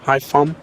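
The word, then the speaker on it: Hải Phòng: Hai Pham. Yeah, you don't pronounce the NG in Vietnamese. You just say it as an M. Hai Pham.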